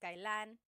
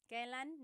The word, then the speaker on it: kailan: And then just a pronunciation tip, it's pronounced kailan, kailan, but you will often hear it pronounced kailan, kailan. Kailan ang kasal? Kailan ang kasal? But it's not wrong to hear kailan ang kasal. It's a little bit more formal.